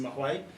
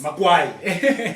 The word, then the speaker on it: Mahwai: 'cause some people get Mahwai wrong. Yeah. It's, Makwai. Nobody say Makwai. it's MHWAI. Repeat that. MAHWAI. Okay. It's the Magwai. Yeah, it's a Mahwai.